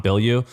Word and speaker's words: Bilyeu: Tom Bilyeu.